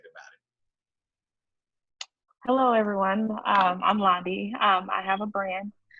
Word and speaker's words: Loundie: It's Loundie, like Blondie, but without the B.